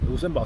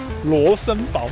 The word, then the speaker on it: Rosenborg: Luxembourg Castle? We saw it. Did I say it wrong? It's not Luxembourg Castle, what is it? Just introduced it and already forgot. What castle? Rosenborg Castle! Rosenborg.